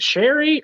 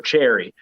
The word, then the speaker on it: Cherry: So like it's spelled like cherry. And I asked her later, I was like, is it Sherry or Cherry? She's like, it's a nickname. It's Cherry.